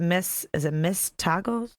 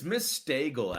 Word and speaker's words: Miss Stagel: It's Miss Stagel, actually. Miss Stagel. I used to say Mystical, but she corrected me once and I never forgot. Okay. It's Miss like bagel.